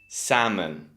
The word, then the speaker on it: salmon: The correct option is B, salmon.